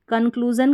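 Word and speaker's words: conclusion: Next one है, शुरू में यहाँ पर CON हमारा कोड हो गया, कन, रिपीट होता है ये भी कन, और लास्ट में SION को जन पढ़ेंगे।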